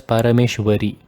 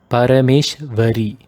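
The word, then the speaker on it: Parameśvarī: Note this is Va, Parameshwari, and not a W. It should not be pronounced as Parameshwari. It is Parameshwari.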